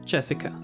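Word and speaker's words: 朱志香: Anyway, it's pronounced Jessica.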